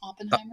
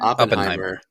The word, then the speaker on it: Oppenheimer: It's Oppenheimer. Oppenheimer.